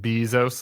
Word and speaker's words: Bezos: you didn't recognize it cuz he pronounces it Bezos like he's a beekeeper yeah he is also